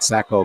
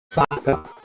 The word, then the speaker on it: Sacco: And they're pronouncing his last name Saka as in S-A-C-K-A, but it's S-A-C-O. So we'll abide by what the Magicians say at the storage table.